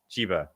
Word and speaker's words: Chiba: Chiba, I'm trying to say it right.